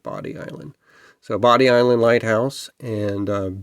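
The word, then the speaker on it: Bodie Island: Certainly looks like Bod Island, but I remember when I lived in North Carolina, they pronounced it Body Island.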